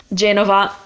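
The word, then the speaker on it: Genova: you're pretty much good yep next one is Jenova Chen about you want the accent on the e je Nova yep Jennifer so that's not a hard one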